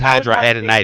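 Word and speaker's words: hidradenitis: Is um Is there hydra- to pronounce it. It's hydradenitis. Is there anything natural that I can do cuz I don't do well with anybody. Okay, hydradenitis is a recurring infection of the skin that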